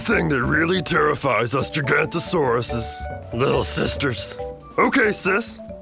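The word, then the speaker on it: Giganotosaurus: I'm Gigantosaurus, the longest meat-eating dino who ever lived. You say my name like this. Jig-Ant-O-Saurus.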